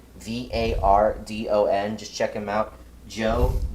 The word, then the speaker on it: Vardon: And I just realized I pronounced your name wrong, Joe. It's Joe Vardon, Vardon.